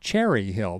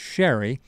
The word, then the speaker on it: Cherry Hill: You've probably seen her name and you don't realize it because you think it's pronounced Cherry Hill, but it's Sherry.